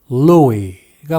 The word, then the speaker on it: Louis: 그래서 프랑스식으로는 루이라고 하는 게 일반적이지만 영어식으로는 루이스라고 발음하는 사람도 있는 게 사실입니다. 영어를 배우는 사람 입장에서는 선택의 여지가 있는 셈인데 일반적인 발음은 S를 뺀 루이가 맞습니다.